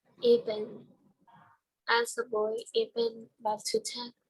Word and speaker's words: Ibn: You pronounce it as Ibn. Ibn.